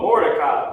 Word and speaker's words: Mordecai: Oh, Mordecai, Maradakia.